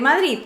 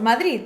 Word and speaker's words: Madrid: pero antes de eso si nos paramos a ver qué es lo que ocurre cuando pronunciamos palabras como juventud y madrid en este vídeo tengo que forzarme a pronunciarlo bien vale porque yo normalmente pronuncio madrid o madrid cuando pronunciamos palabras como madrid o juventud lo que nos damos cuenta es que la lengua sube y toca la parte superior de los dientes superiores la juventud está preparadísima